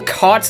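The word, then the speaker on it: Chott: I realized between parts one and two that Bill Cot's last name is pronounced cot, which makes me wonder why there's even an H in it.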